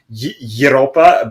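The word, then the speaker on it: Европа: is pronounced in uh in Russian it's kind of like Europa but then what they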